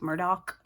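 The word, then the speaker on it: Murdaugh: Friday night, I started the Murdoch, or I think they preferred it to be pronounced Murdoch. It looks like Murdoch, but the Murdoch TV show on Hulu with Patricia Arquette and, oh gosh, what is his name?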